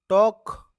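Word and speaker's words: talk: rhyming word भी है टॉक चौक इसमें एल साइलेंट है टॉल्ट मत पढ़ना प्यारे बच्चों इसको चल चालक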